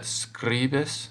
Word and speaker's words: scribis: Did you remember that scribis has a short I sound?